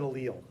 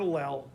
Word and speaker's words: allele: the sequence is different that's an allele or an allele i've heard it pronounced both ways is that in a